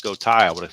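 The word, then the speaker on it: Gotay: If I didn't know it's pronounced Gota Thai, I would have said goatee, but obviously it is pronounced goai, but rhyming with bow tie.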